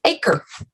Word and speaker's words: Acre: And Rebecca's last name is pronounced Acre. So that's a little different.